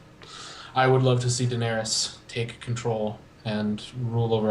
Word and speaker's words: Daenerys: daenerys yeah yes daenerys i keep thinking dinaria then i don't know why but daenerys yes i would love to see daenerys take control and rule